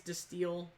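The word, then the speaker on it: De Stijl: everything oh there's digital I call it the stijl I think it's de steel I don't know you don't pronounce the J we even have probably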